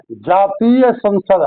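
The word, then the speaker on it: জাতীয় সংসদ: बांग्लादेश बांग्लादेश की संसद का नाम जातीय संसद है। जातीय संसद इसे बांग्ला उच्चारण के अनुसार जातीय संसद एस ए एन जी एस ए डी यानी जातिया संसद कहा जाता है।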